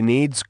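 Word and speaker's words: Niamh: The name is pronounced need, and therefore rhymes with achieve.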